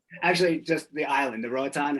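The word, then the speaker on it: Roatán: Actually, just the island, the Roatan, how you say it? Yeah, Rotan.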